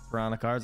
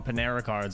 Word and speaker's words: Piranha Cards: uh piranha cards burn I almost said it wrong again piranha cards I always I used to call them Panera cards I don't know why it would just literally go there every single time uh Yeti what's up